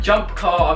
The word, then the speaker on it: Jump Kar: Alright, Jump Car, I think that's how you say it. It's spelled car, but K-A-R, so I like that.